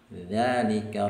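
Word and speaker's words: ذلك: Contoh misalnya pada kalimat jaa dzalikar rajulu. Ya, huruf dzalnya ini tulisannya harakatnya pendek tapi dibacanya panjang.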